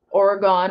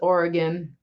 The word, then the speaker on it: Oregon: up there in Quebec I always say I'm saying it wrong it's Quebec I I I we had this discussion on step's channel last night I grew up saying Oregon when it's Oregon I I've grow saying Quebec when it's Quebec it's